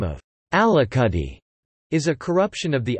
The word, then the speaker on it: Alicudi: Alicudi, Italian pronunciation, Alicudi, is the westernmost of the eight islands that make up the Aeolian archipelago, a volcanic island chain north of Sicily.